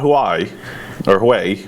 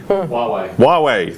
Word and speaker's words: Huawei: so here I'm gonna miss Bernette speaking of mispronunciation let's talk about who I or way Huawei thank you know I keep doing that so